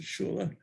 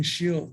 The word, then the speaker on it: shul: Shul comes from the Yiddish, and shul or shula, some would pronounce it shula, or even shil. There's, depends on what part of Eastern Europe you came from for the pronunciations.